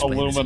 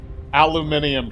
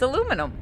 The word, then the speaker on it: aluminum: princess look I'm sorry it's pronounced aluminum incredibly simple and straight aluminium what the is wrong with them it's aluminum yeah but I mean